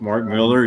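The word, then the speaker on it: Millar: Southern Karma geek is intent on correcting me on the pronunciation it's Mark Miller yeah you do that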